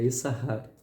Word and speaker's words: Issachar: Mas para a regra gramatical, o segundo shin é mudo. Então é Issachar, né, não se pronuncia.